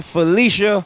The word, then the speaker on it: Felicia: and here comes Felicia boo phel Felicia correct pronunciation Felicia boo of Queens College so they're one two